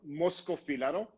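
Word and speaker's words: Moschofilero: maybe you can give us even a little pronunciation. Pretty good. I will, and Keith, you are excellent, by the way. So Moscofilero, etymology of the word is Mosco.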